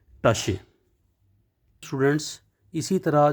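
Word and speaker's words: Tasche: को कहते हैं और प्रोनाउंस इसकी होगी टश स्टूडेंट्स इसी तरह जो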